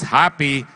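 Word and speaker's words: Hapee: it's a p e you pronounce it as happy and the recall is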